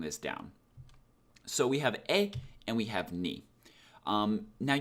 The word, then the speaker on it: へ: And then we have our particle here, e. One important note about e is I know it's written like he, but it's pronounced like e, like that hiragana character,